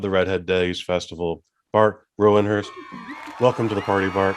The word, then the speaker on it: Rouwenhorst: Not many people are able to pronounce that. So it's Rouwenhorst. Don't try it at home. It's difficult. Rouwenhorst. Yeah. Rouwenhorst.